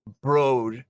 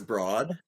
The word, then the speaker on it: Broad: said uh hey my name is gonna be pronounced broad because I'm not a freaking Broad and so he changed the pronunciation of his last name oh but it was broad yeah but he changed it you know when